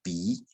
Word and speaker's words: 杯: 第一个是那个杯子的杯是念鼻，好，回头的